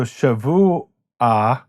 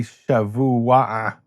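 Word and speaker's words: שבוע: So, shavu-a is the way we pronounce it in Modern Hebrew, but it's really shevu-a-a, which is hard to say even for most people today.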